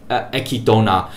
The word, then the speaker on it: Echidna: Fun fact, if you actually type Echikana, just Echikana, Echidona, or however you say her name, I think I'll just call it Echidona, like the Japanese way of saying it.